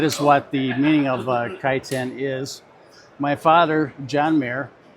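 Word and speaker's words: Kaiten: the book is called kiten that is the correct way to pronounce it in English kiten the meaning of the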